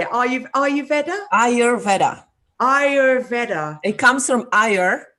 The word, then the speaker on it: Ayurveda: Ayurveda? Ayurveda. It comes from Ayur, which means life, and Veda, which means science. So it's the science of life. Ayurveda. You're an amazing practitioner of Ayurveda.